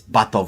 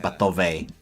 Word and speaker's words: Batov: It's Batov. It's not Batove.